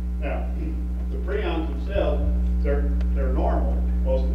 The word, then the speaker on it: prions: All right, the agents of chronic wasting disease are called prions, and that's the way they're pronounced, prions, not prions. They're pronounced prions.